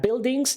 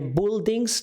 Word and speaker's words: buildings: tutaj jest ciekawego tak buildings nie buildings czasami słyszę te wymowę oczywiście będzie nie bu bu dobrze are Green tak